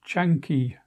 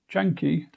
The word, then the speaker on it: Canki: Hello, today I'm looking at Majjhima number 95, the Canki Sutta, that's spelled C-A-N-K-I in Romanized Pali.